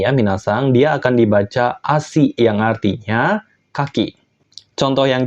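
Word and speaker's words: 足: ada tiga ya minasang yaitu ASI tarire dan Tase ASI itu artinya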